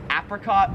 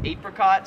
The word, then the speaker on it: apricot: So that is apricot or apricot. So apricot is like the American way, but I've always pronounced it apricot, which is how like everyone in Australia pronounces it.